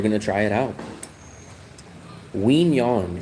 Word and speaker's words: Quy Nhon: Wong. It's spelled Q U Y. Second uh name is N H O N.